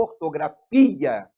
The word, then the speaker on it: ortografia: que não tem acento por exemplo ortografia o fim é a sílaba forte mas ele não é